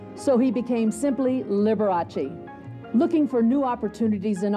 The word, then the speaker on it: Liberace: trying to teach people to pronounce his last name Liberace and not liber8 he even printed it